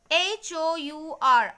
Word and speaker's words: hour: H-O-U-R, hour. Okay, so H, the pronunciation of H is missing.